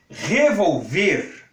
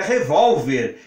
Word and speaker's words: revólver: que que eu escorreguei revolver percebo a importância de um assento se eu não coloca acento eu pronuncio resolver é um verbo se tivesse assento seria revólver que é uma arma de fogo percebeu a importância do